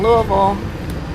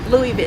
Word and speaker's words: Louisville: Kind of like if you're from Louisville, Louisville, it's not Louisville. You're from Louisville. Got to put a V on the end of it.